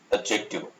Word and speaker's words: adjective: D is silent there, so it's spoken as adjective.